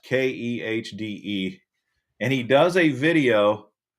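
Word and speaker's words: Kehde: Ned Katie is his name. It's pronounced Khde.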